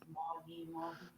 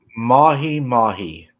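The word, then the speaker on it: mahi-mahi: Tracy said it's pronounced mahi mahi. Oh, Tracy said it's mahi mahi.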